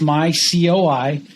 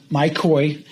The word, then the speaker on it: myCOI: those not familiar with your company's name it's pronounced my COI and not my koi you're not involved with big fancy goldfish correct